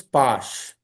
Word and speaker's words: pash: So in Bengali, sir, they don't generally pronounce as sir. They pronounce as sh. So pass becomes pash.